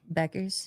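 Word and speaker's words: Bueckers: How do you pronounce Paige Buers's names? Buckers. Beckers.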